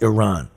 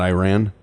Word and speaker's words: Iran: Iran tomorrow yes and it's pronounced Iran yeah not Iran no that's uh what